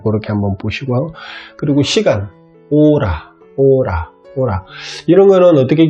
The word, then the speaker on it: hora: 오라는 ORA가 아니고 HORA입니다. 그래서 H가 제일 앞에 오면, 다시 말씀을 드리면 발음이 되지를 않습니다. 무겁습니다.